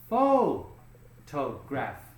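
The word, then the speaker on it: photograph: flat there faux toe now if you take this word and you're thinking one two three you're correct three vowels three syllables now you have to guess where does the stress go on the first second or third syllable and you're right it goes here full toe graph okay now when you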